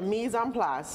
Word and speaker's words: mise en place: See, now I got the mise en place.